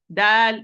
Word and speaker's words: د: Ta is whispered, mahmus. Dal is not whispered, it's apparent majhur. So this is the main difference. But both are light, so the position of the tongue will be almost the same. It's at the same. Difference how I open. This is with qalqala and this is with hams. Do not apply hams here with dal. Do not apply qalqala with ta also.